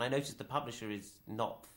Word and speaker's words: Knopf: And I noticed the publisher is Knopf. Knopf, She yes. doesn't know how to pronounce it.